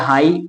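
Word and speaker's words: high: हम बोलते हैं है आई को हम ई पढ़ते हैं लेकिन जी एच आए तो आई को आई पढ़ते हैं तो बन गया हाई और जी एच खुद साइलेंट है यहां पर देखते हैं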